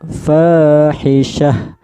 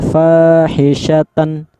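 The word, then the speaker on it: فاحشة: pemberhentian, maka cara bacanya fahisyah, mati ha jadinya, jadi terdengar ha, fahisyah, begitu, seperti itu. Jangan dibaca karena ini tan, dibaca fahisyatan. Jangan, kalau berhenti jadinya fahisyah, fahisyah, mati ya, terdengar ha, mati ha, jadi seperti itu ya.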